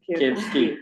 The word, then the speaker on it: Kevsky: Kevsky, 3 syllables.